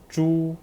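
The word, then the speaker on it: 猪: is the word to remember that h is the j j j sound with the u final first tone ju that's okay okay so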